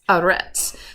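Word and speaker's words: ארץ: um it's kind of that silent is in the word Earth or land it's aret so I'm really only pronouncing the vowel which we see here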